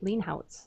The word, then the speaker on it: Leenhouts: remind everybody this is Marty leenhouts I'm hoping pronouncing your name right lean housez right yep and um his he's got an